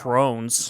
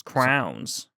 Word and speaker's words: crowns: But it's not pronounced crones. Crown. It's crowns.